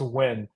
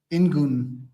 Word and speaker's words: Nguyen: Charles first of all it's easier than it looks it's h pronounced when and uh don't like don't let anybody else tell you differently in French it's different that's the thing it's like ingun or something like that so that's why my